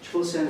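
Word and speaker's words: Chōsen: Chosen is the Japanese word for Chosun, which is what Korea was known as. This is the Japanese pronunciation. Korean is Chosun, Japanese is Chosen.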